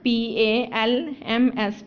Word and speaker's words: palms: Our next word is coconut पाम्स, COCO, cocoa, NUT, nut, coconut, PALMS, palms, coconut palms. The letter L is silent in palms, COCO, coco, NUT, nut, coconut, PALMS, palms.